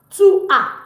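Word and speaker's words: tu as: we say to a to a to a s is not pronounced to a meaning You have we're going to make sentence with this don't worry.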